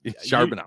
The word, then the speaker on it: Charbonnet: I have Rashad Penny at 30, Zach Charbonnet at 32. Okay, keep interrupting me to correct me on how to incorrectly pronounce someone's name. Charbonnet.